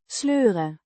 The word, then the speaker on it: sleur: Sleuren. To drag. Pronounced. Sleur. With the E. sounds similar to the oi in boy, but shorter.